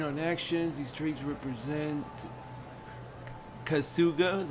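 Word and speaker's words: Kasuga: and food depending on actions these traits represent kazuga is how you say his name as a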